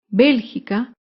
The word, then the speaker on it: Bélgica: es la palabra Bélgica Bélgica se acentúa en la antepenúltima sílaba Bélgica por último otro ejemplo